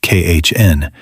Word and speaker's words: Caen: Eventually, he had to be admitted to a hospital in Caen, pronounced Khn, where he would spend the last years of his life.